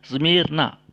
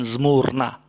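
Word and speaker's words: Σμύρνα: Smyrna, bukan Smurna. Ya. Jadi kalau membaca Smurna itu keliru. Seharusnya dibaca Smyrna.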